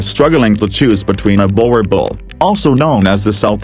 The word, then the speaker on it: Boerboel: In the Afrikaans language, the name Boerboel, pronounced as Boerboel, translates to farmer's dog.